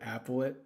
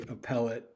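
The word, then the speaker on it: appellate: Um I I was calling it applet, but it should be appellet.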